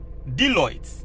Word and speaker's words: Deloitte: Once I told you, say, Deloitte, is it? Am I pronouncing it well? Deloitte, yes.